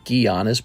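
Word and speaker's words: Giannis: away here's Bradley Beal Alli mcbi here's is pronounced gianis by the way and then this is pronounced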